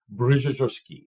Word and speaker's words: Brzozowski: name correctly okay so in Polish you would say brki oh my God that's